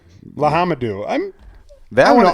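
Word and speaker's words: L'Homme Dieu: So I'm going to call it Lahamdu. Hey, you're really close on that one. It's Lahamadou.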